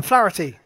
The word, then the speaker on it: Flaherty: Flaherty.